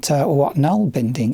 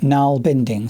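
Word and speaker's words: nålbinding: this is just my quick overview of what Nalbinding is.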